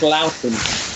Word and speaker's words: Loughton: It's pronounced rather differently from Leighton. It's Loughton.